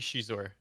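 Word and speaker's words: Xizor: How do you say Shizor? Do you say Shizor? You say Zizor? I think it's supposed to be Shizor. Shizor is how it is in the audiobook, so you know.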